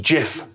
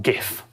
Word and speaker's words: GIF: words only acceptance speeches he said it's pronounced jif not gif this is the slide